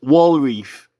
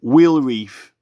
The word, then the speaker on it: Wealreaf: capital W there and it's wall Reef or if you want to pronounce it whe reef and this wheel Reef